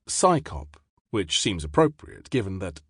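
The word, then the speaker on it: CSICOP: CSI cop is usually pronounced psychop which seems appropriate given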